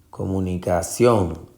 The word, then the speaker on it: comunicación: La sílaba tónica en comunicación, si usted se va a buscar, es comunicación. Es ción la sílaba tónica y lleva tilde, que eso es una clave.